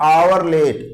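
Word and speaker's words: hourly: अब जैसे एग्जांपल से क्लियर करिएगा, एन आवर लेट, अब यहां पे देखिए क्या है कि एच साइलेंट हो रहा है, आवर पढ़ा रहा है।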